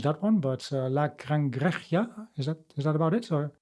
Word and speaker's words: La Cangreja: I don't know how to pronounce that one, but La Cangreja, is that about it?